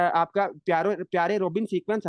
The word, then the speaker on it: Pierre Robin: That is your प्यारे प्यारे रोबिन sequence. खैर मजाक कर रहा हूँ, इसका जो सही प्रोनाउंसिएशन है, that is पियर रोबिन sequence, पियर रोबिन sequence.